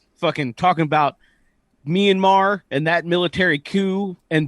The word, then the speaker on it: Myanmar: a a sorry a minamar because the person who asked the question doesn't under doesn't know that myanmar is how you say the cut the country's name uh why couldn't a